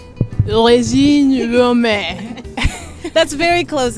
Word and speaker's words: Regine Romain: have a lesson so how do we pronounce your name it's rein Rome rein Rome that's very close it's